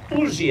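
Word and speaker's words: Huger: We had landed at the plantation of a Monsieur Ouger, a Benjamin Sugar, or Ouger as they pronounce it there in South Carolina, an ardent patriot, but he had mistaken me and my companions for Englishmen.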